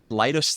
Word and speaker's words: Leidos: in an elevator pitch lios the company and I I remind people or to explain this the pronunciation it's the middle of the word Kaleidoscope so so that's where